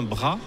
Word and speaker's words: Bras: Parce que, pardon, Lebras, c'est L-E et plus loin bras. Ouais, mais exactement. ça se prononce Bras.